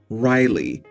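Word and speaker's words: Ryligh: another name r y l i g h Riley and again she did spell it out I V toed it and suggested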